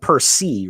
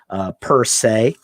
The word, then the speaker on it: per se: But you could probably tell that, and it looks like per se, right? But it's usually pronounced per se.